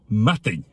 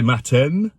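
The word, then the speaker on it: madainn: Most people say matin, but it's matting. Bit like that Spanish N in words like mañana.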